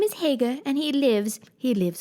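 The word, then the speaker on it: Haigha: happy his name is Hagar he pronounced it so as to rhyme with mayor I love my love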